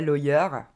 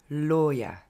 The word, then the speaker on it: lawyer: prononce plutôt mal donc c'est pas lawyer mais c'est loyat encore une fois loyat et on finit avec